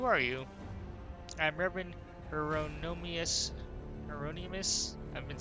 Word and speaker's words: Hieronymus: son great who are you I'm Reverend Hieronymus Hieronymus I've been saying it wrong I apologize dolorusso